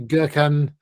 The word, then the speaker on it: Gökhan: Well, the O normally is so it should be Gökhan, and the C with the bit underneath should be a ch. Oh no, it's j, isn't it?